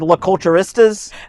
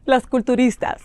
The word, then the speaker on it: Las Culturistas: I said La Culturistas? Las Culturistas. La Culturistas? Culturistas. You're saying it like a gringo.